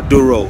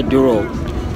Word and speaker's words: Douro: I want to do a boat ride, yeah, down the river Douro. I think that's how it's pronounced. Yeah, Douro.